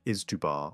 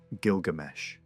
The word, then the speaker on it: Gilgamesh: Older publications rendered it as something like Izdubar or Gishtubar, because the writing system used signs that could be read in different ways. Later work clarified how Babylonian scribes actually pronounced it, and the name that emerges is the familiar one, Gilgamesh.